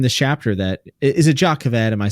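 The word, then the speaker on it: Jah Keved: We we we hear in this chapter that Is it Jacov Ed? Am I saying it right? Yeah, I don't know if it's Ja or Ya. Jacov Ed, but Yeah, it's Ya. Okay. So Jacov Ed, we talk we talk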